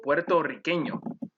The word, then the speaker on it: puertorriqueño: Romeo es mi amigo puertorriqueño. And you would roll the R's in Romeo, since the R is in the initial position, and in puertorriqueño, since there's a double R.